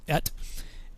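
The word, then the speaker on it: את: He calls it the Et Watch, because that's how you pronounce the Aleph Tav is Et.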